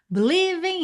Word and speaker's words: believing: Two hearts believing in just mind. Então, a gente acabou de ver na estrofe anterior que a palavra believe ela tem a sílaba tônica no lee, certo?